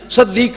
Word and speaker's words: صدیق: ہو تلفظ کیا ہے۔ صدیق فعیل کے وزن پر یہ صیغہ ہے مبالغے کا، سواد کے نیچے کسرہ ہے، اس کے اوپر فتح